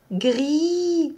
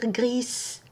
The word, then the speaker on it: gris: qu'on ne prononce pas gris on peut pas dire gries c'est pour cela le s et en gris c'est une lettre muette on prononce pas le tapis le s